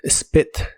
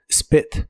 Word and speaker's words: spit: de inglés es spit se pronuncia con la i corta spit spit y lo puedes usar